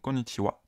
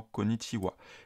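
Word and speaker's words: こんにちは: avec le silagana ha mais se prononce wa comme la particule donc konichiwa bonjour mikchandes C'est mikchan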